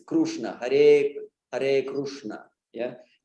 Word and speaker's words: Krishna: Hare Hare Krishna yeah they even sometimes spell it k-r-u-s-h krushna yeah so so it's good to be aware of the actual of the root uh pronunciation of the actual pronunciation of Sanskrit which is not just